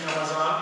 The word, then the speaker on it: Ramazan: One very common one in South Asia is Ramazan Mubarak, and the pronunciation is Ramazan. It's the same thing as Ramadan, which is an Arabic word.